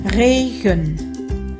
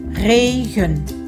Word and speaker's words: regen: Hai chữ e màu xanh đều là chữ e không được nhấn, cho nên nó là stomme e. Mình đều phát âm là ơ. Regen. Regen.